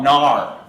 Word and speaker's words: NAR: want to call it nah right they pronounce it na are they spell it out right if you